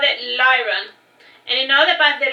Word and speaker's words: Liron: And the store owner called it Lyron.